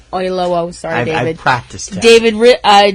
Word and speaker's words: Oyelowo: Oyelowo.